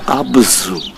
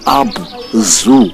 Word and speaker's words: Abzu: the world as the Abzu. And the truth, the right pronunciation is not Abzu as in animal zoo. No, it's Abzu. They pronounced the ZU as Tsu.